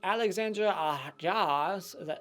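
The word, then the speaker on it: Alexandre Aja: sleep is my number 4 number 3 goes to Alexandra jaws that's how you say his name crawl I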